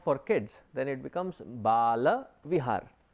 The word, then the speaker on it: Bala Vihar: in our next generation sometimes we tend to mispronounce it and we say it is balvihar the moment you say Baal vihar it is